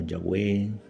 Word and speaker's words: Yahweh: Algunos lo pronuncian como Yahweh, Yahvé y otros como Jehová. Su pronunciación exacta se ha perdido.